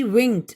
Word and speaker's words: winked: Okay, WINK, വിങ്ക്, WINKED, വിങ്ക്ഡ്. അവിടെ ED വെച്ച് അവസാനിക്കുന്നതാണെങ്കിലും നമ്മൾ ഉച്ചരിക്കുക ട് എന്നാണ്, വിങ്ക്ഡ്, വിങ്ക്ഡ്.